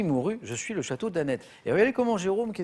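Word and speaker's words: Anet: Le château d'Annette. A-N-E-T avec un T qui se prononce, oui.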